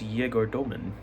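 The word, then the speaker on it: Egor Demin: been like, actually, guys, my name is how pronounced like this. No. Just randomly on a podcast, he's like, my name is Yegor Doman.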